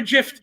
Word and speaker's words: gif: us you are a gift you are god's gift to all of us don't you dare do that right now john you are a you're not a hard g no no it's a gif thank you it's like